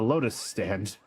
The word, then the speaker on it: Lotus Stand: I return to the Lotus Stand. Sorry, it rhymes with Waking Sands.